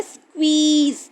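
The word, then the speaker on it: squeeze: और इसके बाद है स्क्वीज, देखो डबल ई की साउंड है, डबल ई ई करके साउंड है, ठीक है, स्कू, एस क्यू यू स्कू, डबल ई स्क्वी, जेड और आखिर वाला ई साइलेंट है, स्क्वीज।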